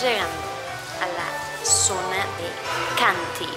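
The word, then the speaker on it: Chianti: a la zona de canty se escribe chanty que es como la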